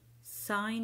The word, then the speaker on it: sign: Sign your name. Sign your name. الج هنا لا تنطق.